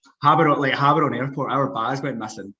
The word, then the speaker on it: Gaborone: Yeah, pronounced Gaborone. It's pronounced Gaborone now.